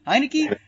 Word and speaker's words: Heinicke: how do you say his name hey hey hi Nikki okay yeah yeah yeah and and Cam Newton